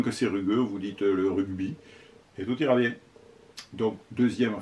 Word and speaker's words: rugby: sport le rugby non c'est pas le bon nom que rugby ça se prononce rugby parce que ça s'écrit rugby365 pas le rugby alors c'est